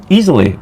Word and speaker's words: Iseli: in just for info Isel is pronounced easily well there we go